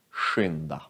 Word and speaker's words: skynda: Och sk, sh, skidor, skynda.